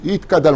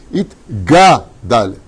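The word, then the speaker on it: יתגדל: Tout le monde dit Itkadal, en plus heureux de chanter Itkadal. Non, Itka, c'est pas marqué, c'est Itgadal.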